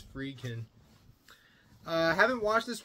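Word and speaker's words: Friedkin: the late William fryin or fredin yeah William fredin that's how you pronounce his name I keep saying fryin but it's frein uh I haven't watched this one but I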